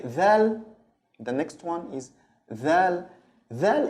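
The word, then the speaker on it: ذال: Okay, dal, the next one is dal. Dal, it's like the th in English in the word than.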